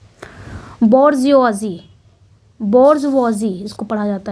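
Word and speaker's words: bourgeoisie: बोर्जवॉजी, इसको जो प्रोनाउंसिएशन है इसका बोर्जवॉजी करके ऐसे कुछ प्रोनाउंसिएशन है।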